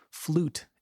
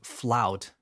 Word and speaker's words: flute: Flute is next. I hear people saying flout because in Spanish we say flout but it's flute.